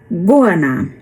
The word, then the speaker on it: goanna: Então, tá aqui como é como e se escreve, mas a pronúncia é goana.